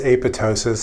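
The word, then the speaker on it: apoptosis: What is aptosis? I've talked about that several times. Please note that the second P is silent. Aptosis is programmed cell death.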